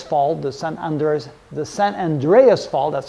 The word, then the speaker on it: San Andreas: then there is fall the Sun under the San Andreas Fault that's how we pronounce it the San Andreas Fault will run